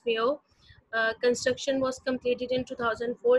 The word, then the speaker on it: Millau: मेलो is pronounce Mayo.